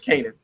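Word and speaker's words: Kanaan: Kanan.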